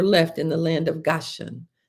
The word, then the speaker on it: Gashan: Only their children, their flocks, and their herds were left in the land of Gashan. Goshan is spelled G A S H A N.